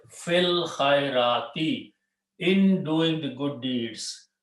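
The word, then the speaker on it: في الخيرات: And you read together, we don't pronounce this alif. Fil khairati, in doing the good deeds.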